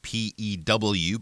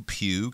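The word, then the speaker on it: Pugh: it sounds more like p e w Pew kind of like f so don't put a g sound in there we're not using that g sound for this name and yeah Florence Pew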